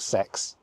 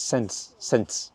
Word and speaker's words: Sens: It's not sex, it's Sens.